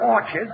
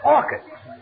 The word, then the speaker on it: orchids: It's not orchids, it's orchids. The CH is pronounced like K.